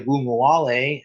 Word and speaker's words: Ogunbowale: And Dare Ogunbowale, and I did pronounce that correctly, it took me a while